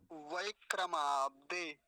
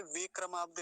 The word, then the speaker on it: वैक्रमाब्दे: फिर से देखिए, इसको वय बोलेंगे, नहीं तो गलत भी उच्चारण क्या हो सकता है, यहाँ पे वे क्रमाब्दे हो सकता है, वे नहीं है, वय, वय, वकार, वकार पर ऐकार की मात्रा, वैक्रमाब्दे ऐसा।